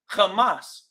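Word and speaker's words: חמס: I'm like, "Oh yeah, that's Hebrew. Hamas." That's how it's pronounced.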